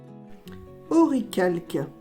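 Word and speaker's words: Orichalque: Oricalque. Et oui, les puristes prononcent ainsi.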